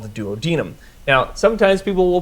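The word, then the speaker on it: duodenum: And this part of the small intestine is called the duodinum. Now sometimes people will pronounce it dadnum and I actually used to purposely pronounce it as dadnum because I had a coworker who hated that pronunciation.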